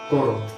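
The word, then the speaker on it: করো: Except when you're pronouncing it with a Bengali accent, it becomes Koro. All of the A's have to be rounded up. That's why it sounds like that. That's why they say Hore Ramo, like that, because that's how they pronounce it.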